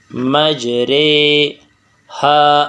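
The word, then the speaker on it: مجريها: نہیں، جیسے بل ران۔ اسی طرح مجریہا، اس کی را کو جو ہے بالامالہ کے ساتھ پڑھیں گے تو اس کے ہجے کا طریقہ کیا ہے؟ میم جیم زبر مج، را کڑی زیری، بالامالہ مجرے، میم جیم زبر مج، را کڑی زیری، بالامالہ رے، مجرے، ہا الف زبر ہا، مجرے ہا، وقفاً مجرے ہا۔ اور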